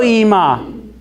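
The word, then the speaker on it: אמא: good so that's e and then we have another olive here but it is silent so what do I do I do nothing now it says II mom now can somebody read this for me what is that it's also EEMA it's like a Sarah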